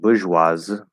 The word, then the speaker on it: bourgeoise: And it's pronounced bourgeoise. So you just take off the Z or the E at the end.